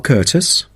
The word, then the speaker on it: Curtis: regarding the course jamal curtis how do you say curtis oh it's c u r t i s thank you that